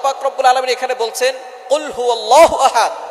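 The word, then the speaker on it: قُلْ هُوَ اللَّهُ أَحَدٌ: আল্লাহ পাক রাব্বুল আলামীন এখানে বলছেন কুলহু আল্লাহু আহাদ। এখানে কফ দিয়ে পড়ছেন কিন্তু অনেকেই ভুল করে উচ্চারণ সঠিক না হওয়ার কারণে তারা পড়ে কাফ।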